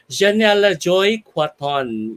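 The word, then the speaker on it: Janella Joy Cuaton: with a virtual applause the pride of albay janiella joy quatton yes hello good evening to you janella hi good evening francois did i pronounce that right that's very correct having me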